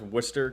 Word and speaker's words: Worcester: Um I'm the only content creator that can pronounce Worcester correctly. I grew up in Worcester County, so I I cheated.